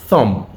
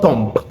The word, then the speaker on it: thumb: Likewise, this word this pronounced thumb. Thumb. Watch my thumb. Thumb. Not thump. Thumb.